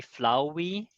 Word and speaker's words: flauwy: And then the spelling is just pure German direct spelling as we would spell it in German. So it's a bit strange for an English speaker. It would probably be better spelled with an OU, I guess, rather than AU. But 100% you will never